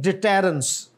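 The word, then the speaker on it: deterrence: is this datum डेसपिसिंग टरेंस नहीं डिटेरेंस और आगे डिस्क्र सही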